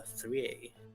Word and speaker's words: Thriae: 3i. That's how you pronounce it, yeah. Thriae. Okay. E. I thought it was 3a. It's Greek. Thriae.